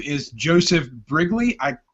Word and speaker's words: Brigleague: His name is Joseph Brigleague. I pronounced that correct, right?